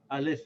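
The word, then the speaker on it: ال: So this Alif with Fatha and this Lam with Sakin, together we'll say Al.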